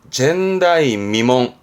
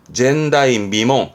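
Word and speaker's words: 前代未聞: 발음은 젠다이미몽. 전대미문이라고 그러잖아요. 그럼 뭐 전대미문의 사건이 한번 쓰게 되는 단어죠. 그래서 이때 발음은 젠다이미몽.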